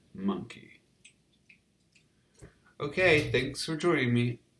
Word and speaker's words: Mynci: a fertilized egg cell monkey is a spelling of the word monkey using welsh spelling rules rather than a direct welsh translation and is pronounced like monkey okay thanks for joining